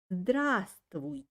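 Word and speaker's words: Здравствуйте: spelling we write but pronounce this word like drasti so don't pronounce the first verb so as i told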